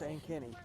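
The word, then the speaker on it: Ankeny: And Ankenny is spelled A-N-K-E-N-Y. A-N-K-E-N-Y is Ankenny.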